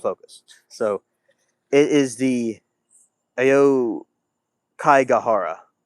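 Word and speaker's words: Aokigahara: So, it is the Ao Kai Gajara. It's spelled A O K I G A H A R A.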